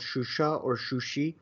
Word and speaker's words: Shusha: city we are talking about is actually called shusha i think armenians pronounce it sushi it's the second most major